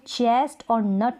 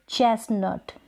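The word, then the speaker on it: chestnut: मोर गज मॉर्गेज अब इसको चेस्ट और नट नहीं चेस्टनट चेस्टनट टीको साइलेंट रखेंगे अब इसको क्रस्ट मस्त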